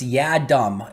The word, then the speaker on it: Yiadom: it uh for isaac's last name so it's ya dumb y e y-e-a-h-d-u-m is how you pronounce it apparently so isaac y adam is